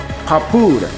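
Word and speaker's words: Happoren: クルルンポ Some story people call it 十難 The last kata will be papuren. This is a Chinese pronunciation. In Japanese pronunciation, it's called hapuren.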